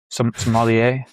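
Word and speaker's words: sommelier: But these guys these uh pronounce it for me the the wine experts. I want to hear somier. Somalier.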